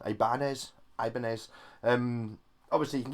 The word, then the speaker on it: Ibanez: it you know Japanese Pogo about Ibanez yes Ibanez it's a new pronunciation Ibanez Ibanez um obviously you can get the action